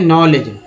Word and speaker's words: know: Next देखिए नॉलेज, ठीक है, नो देखिए KNOW, यहाँ पर के जो है साइलेंट है, के साइलेंट है, और एन का उच्चारण हुआ।